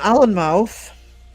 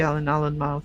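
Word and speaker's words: Alnmouth: But we've also got an Allen mouth. Al N O U T H cuz it's the mouth of the river Allen and what anx. And you do say the Allen mouth.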